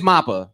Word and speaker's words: MAPPA: you pronounce things and i thought it was maple two so it is mappa because i heard people say it was mappa as well i say manga